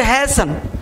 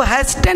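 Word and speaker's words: hasten: के खास करके, कि टी जब भी अंतिम में हो तो उस टी का उच्चारण तो ओरिजिनल होता ही नहीं। जैसे हैसन, तो इसको हैस्टन नहीं पढ़ेंगे, हैसन।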